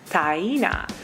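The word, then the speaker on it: Taina: really made sense to because it's spelled exactly the way it's pronounced t a i n a tyena five letters not hard like I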